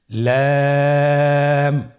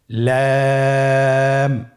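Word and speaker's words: لام: লাম হরফটি উচ্চারণের ক্ষেত্রে অবশ্যই বারিক হবে এবং তিন আলিফ টেনে পড়তে হবে। আপনারা আমার সাথে বলুন। লাম।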